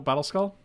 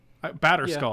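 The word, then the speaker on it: Batterskull: it's battle battle battle battle skull we could take our kikijiki for battle skull at this point batter skull i keep saying battle skull you wanna you wanna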